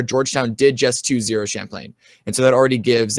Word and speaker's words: Champlain: for second between Champlin is that how you pronounced at school Champlain Champlain um Carlton and Georgetown University uh and those